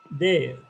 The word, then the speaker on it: there: And the last word is there. र येतो का इथे कुठे शेवटच्या याच्यात? No, we don't have the word r in this word because r is silent in this word, and there are certain rules in English of silent letters.